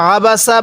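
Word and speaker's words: عبس: করি বিসমিল্লাহির রাহমানির রাহিম আবাসা আবাসা এই আইনটা উচ্চারণের সময় আমরা যদি একটু চাপ দিয়ে পড়ি তাহলে আইনটা সহি উচ্চারণ হবে তাহলে এই লামের মধ্যে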